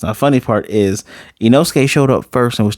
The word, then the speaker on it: Inosuke: The funny part is Inosuke showed up first and was teaching her how to say his name, and she was saying Imosuke.